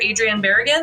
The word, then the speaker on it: Adrian Barragan: today I should have double checked how to pronounce your name before we started recording but uh by Dr Adrien beran is that am I saying that right that's